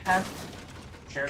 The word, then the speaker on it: carapace: Carapace? Carpish? Yeah, carapace. Carapace? Carapace. I think it's pronounced carapace.